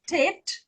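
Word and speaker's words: טית: Then Pronunciation. Ja, ziek me. Okay, Ah. African. This one I can't remember. Okay. This is Tet.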